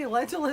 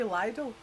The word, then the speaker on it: Lidl: It's not L-I-D-D-L-E, so it can't be Lidl. It's got to be Lidl. Listen. I like shopping in the middle of Lidl.